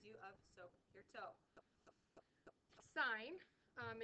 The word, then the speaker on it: sine: of so your toe sign um is not pronounced sin it's just sign on a calculator you're